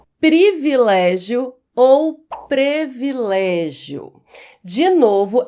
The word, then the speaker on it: privilégio: Muita gente acha que o correto é privilégio porque existem palavras, muitas palavras em língua portuguesa são escritas com e nós pronunciamos i. Mas não é o caso de privilégio. Privilégio se escreve com i mesmo. E nós devemos pronunciar da forma como escrevemos. Privilégio é a forma correta.